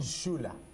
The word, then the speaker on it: Chula: Chula. Chula, depends, accents, but Chula. Chula is the right pronunciation.